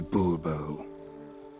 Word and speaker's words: Bourbon: bone fine monsieur de bourbon the emphasis falls on the last syllable bobo see now i'd